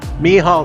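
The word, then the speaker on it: Mehall: grimm says hi to abby mihal and blue me hall spelled m m-e-h-a-l-l it is how it's pronounced thank you it is uh it's something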